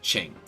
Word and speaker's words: Qing: queen chuck it you I and G but I'm pretty sure it's pronounced Shing not certain and we probably because